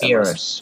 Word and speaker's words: Beerus: Beerus.